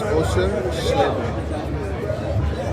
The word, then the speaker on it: Oshersleben: So it's Osher Schleben. I know it looks like a Osher Schleben. I'll say it like that next time. Osher Schleben. There's Osher Schleben. Osher Schleben. It's like a little bit of a sh.